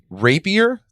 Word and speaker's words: rapier: right we have uh it's rapier class titan i need to be very careful with the pronunciation yeah like the sword yes yes um we